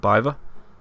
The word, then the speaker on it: Beaver: I've always been told it's Skitter and Biver, or like not Beaver as in the animal.